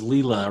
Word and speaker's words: Leela: lilo and stitch yeah leela correct the correct way to say that is leela ryan loves to say